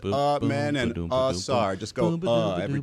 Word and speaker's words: Amen: I picked the game just so I can tell Dan LeBatard how to pronounce Amen Thompson. It's Amen and Sar.